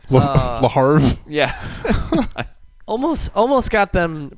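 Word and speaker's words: Le Havre: the French Second Division I think it's laav ra isn't it I is it pronounced like Brett Favre yeah larve yeah almost almost got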